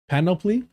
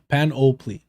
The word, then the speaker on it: panoply: exceed high school graduation rates, and the whole panoply of racial oppression. Penelope. I'm just kidding. Panoply. A complete or impressive collection of things. How do you say it though? Okay. Panoply.